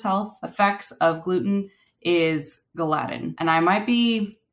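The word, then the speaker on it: gliadin: proteins that are in gluten are glutenin and gadin and it is also kind of important to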